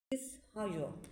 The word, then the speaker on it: Hjorth: hajo diye okunuyor norveççe Norveç edebiyatının son dönem